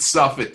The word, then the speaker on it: Suffett: Marilyn doesn't sing, and you could pronounce it Suffett. You don't have to do it the French way. Suffett. No, I bet. Like little Miss Muffet. Or Warren Buffett.